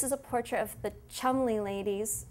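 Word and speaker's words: Cholmondeley: of swaddling this is a portrait of the Chumley ladies it's actually how it's pronounced Chumlee ladies and they were two sisters who got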